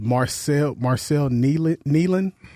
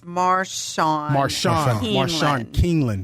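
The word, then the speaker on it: Marshawn Kneeland: You know, recently we had, speaking of the Cowboys, as Marcel Nealon. I don't want to mispronounce his name. It's Marshawn Keeneland.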